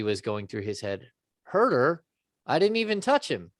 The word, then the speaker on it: Huerter: Herder. Yeah. Herder. Okay. Don't hurt her. Hammer, don't hurt her. Yeah. Well, I Instead of kept hurt him. thinking that Buddy was going through his head. Herder?